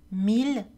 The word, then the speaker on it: mille: Il existe trois exceptions, mille, ville, tranquille. Ces mots ainsi que leurs dérivés, million, village, tranquillité, etc., sont prononcés avec le son L. Mots dérivés de mille villes tranquilles.